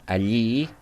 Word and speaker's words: allí: The second one, allí.